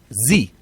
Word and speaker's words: Xi: this Jinping XI what's how do you say XI Z okay Z jingping sure okay Z jingping the